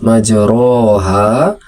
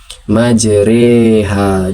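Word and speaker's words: مجريها: Di Al-Qur'an mungkin tertulis majroha majroha. Tetapi tetap dia dibaca pakai e. Merubah rnya itu menjadi re majriha. Inilah yang disebut sebagai imalah.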